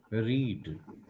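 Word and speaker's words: read: रीड पढ़ना, इसकी spelling change नहीं होती, केवल प्रोनंसिएशन चेंज हो जाता है। तो यहाँ पर इसका प्रोनंसिएशन है रेड, इसका भी प्रोनंसिएशन है रेड, रीड रेड रेड।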